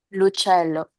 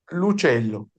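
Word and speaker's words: l'uccello: Lucello. Un celo Se pegado. pronuncia corrido. El apóstrofe no existe en la pronunciación. Lucello, no es il uccello.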